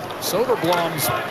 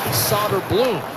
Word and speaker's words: Soderblom: Soderblom's older brother is the goaltender for Chicago. His name is Arvid, and he pronounces it Soderblom, but this is Soderblom.